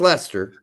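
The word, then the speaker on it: Leicester: uh like Lester you'd think it's how it's pronounced but it's actually more like molester it's Lester yeah it's Lester yeah so uh that's that's the one English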